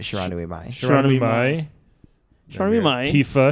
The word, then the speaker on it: Shiranui Mai: it's my Shiranui, but Shiranui Mai.